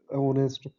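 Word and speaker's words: honest: जैसे कोई वर्ड ऐसा है जिसमें साइलेंट है एच, तो उसमें जैसे ओवर, ऑनेस्ट, इसमें हम एन का यूज़ करेंगे।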